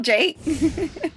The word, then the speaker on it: JVKE: So I'm Jake, but it's spelled JVKE. But the thought is like, you flip the A upside down and it's JVKE.